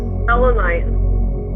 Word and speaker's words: selenite: Selenite? Selenite.